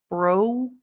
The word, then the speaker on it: broke: the past tense bro so not BR bro it's like an O you broke down broke down it's kind of like the other sounds where you want to put keep the K here but you're not going to say broke there's no air no aspirated K broke down good next